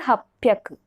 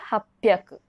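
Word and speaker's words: 八百: This hyaku use will be applied for everywhere, but only this red highlighted place, the pronunciation will change. For 300, sanbyaku. For 600, ropyaku. For 800, hapyaku. For remaining, it is hyaku.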